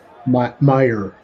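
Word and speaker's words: Meijer: Is that pronounced major? Major Meyer, I believe. Oh, Meyer.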